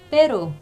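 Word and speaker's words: pero: 이게 빼로, 그냥 하나 있을 때 빼로 그냥 하시면 돼요.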